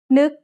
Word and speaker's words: นึก: นึก has an initial low-class consonant and a final stop that makes it a dead syllable, plus a short vowel that makes it a high tone.